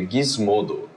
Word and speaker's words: Gizmodo: de vocês gisl pergunta como se fala gismo então gisl não é assim é é Gizmodo o que que é